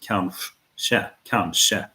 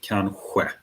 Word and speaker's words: kanske: So if you're in Stockholm, maybe they pronounce it kanske. So you have a sh sound variant as well. But in the south, you'd probably pronounce it kanske, which is further back in the mouth.